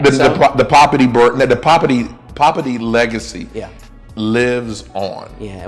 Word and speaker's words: Poppiti: That's it, Poppiti.